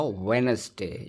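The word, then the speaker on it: Wednesday: तो यह रहेगा वेडनेसडे डी यहां पे साइलेंट है।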